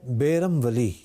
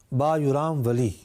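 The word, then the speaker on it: Bayram Veli: قائم ہے۔ آپ کے نام کے 2 تلفظ ادا کیے جاتے ہیں، ایک ہے بیرم ولی اور دوسرا ہے با یرام ولی یا با یرام ولی۔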